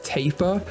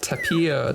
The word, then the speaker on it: tapir: they're about to M I learned I was pronouncing this wrong as well you guys said it's taper which makes so much more sense I was pronouncing it like Tapia T Tapia I had no idea it's taper so that's good but